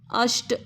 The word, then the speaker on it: अष्ट: सप्त आधा प सप्त अष्ट आधा श अश नहीं है अष्ट नव उसके साथ ही